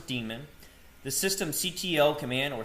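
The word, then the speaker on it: daemon: Today we're going to go over the boot sequence, the systemd demon. This is pronounced as demon, the system ctl command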